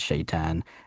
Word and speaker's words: Shaitan: The T, we make it like a ah sound, so shaitan is how we would say it.